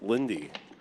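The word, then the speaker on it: Linde: chat Dylan Lynn says his last name is actually pronounced Lindy I I don't agree with that I've heard Dylan Lynn for years I'm horrible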